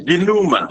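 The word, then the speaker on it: dénouement: I heard something of D or I didn't get the pronunciation well, please. Sorry. Duma.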